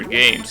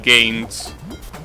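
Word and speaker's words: Goenitz: games i think well it's written as go in it but i'm pretty sure it's pronounced games and that guy is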